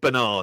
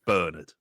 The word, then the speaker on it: Bernard: They'd say Bernard, and it's like, it's Bernard. My granddad was called Bernard. That's how you say it.